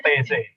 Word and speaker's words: Taizé: TZ, bacanya TZ.